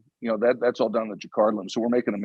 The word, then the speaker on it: Jacquard: Can you tell us about this Jacquard loom, which I mispronounced earlier, but what does that do for you versus a standard loom?